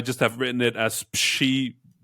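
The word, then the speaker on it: Przybyłowicz: and his name, it's a Polish name, and it kind of goes Shibołowicz.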